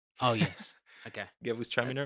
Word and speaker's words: Gewürztraminer: At some point, we will have, for example, a Gewürztraminer, which is super pronounced. It's super aromatic. A what? A Gewürztraminer. Oh, yes. Okay. Gewürztraminer.